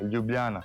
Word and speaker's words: Ljubljana: Yeah, Ljubljana.